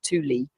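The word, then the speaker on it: Thule: a military base in Greenland known as THU Air Base pronounced T Lee it is the northernmost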